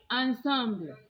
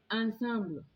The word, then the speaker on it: ensemble: But when the English borrowed the original French ensemble, they pronounced it as ensemble, and we normally use this word for symphonies or orchestra. So you will hear people say dance ensemble, dance ensemble. It is not ensemble, it has been borrowed from French but pronounced to suit the English.